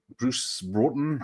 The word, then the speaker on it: Bruce Broughton: Bruce Broughton, I think it's pronounced.